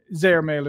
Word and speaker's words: Zehrmail: And what we're going to talk today is more about the Zehrmail, if that's the correct pronunciation, is it?